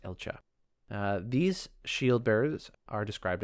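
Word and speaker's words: Elcga: Um, but since it's in a Darren founded paladin order, I believe it's pronounced Elcha.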